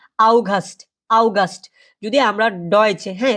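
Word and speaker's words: August: আমাদের আগস্ট মাস আগস্ট কে বলা হয় কি আউগাস্ট আউগাস্ট যদি আমরা ডয় হ্যা যার মানে কোথায়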